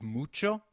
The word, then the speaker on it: mucho: notice the pronunciation of mucho we earlier learned that H is always silent in Spanish however when combined with C it is pronounced as Che as in church so can you try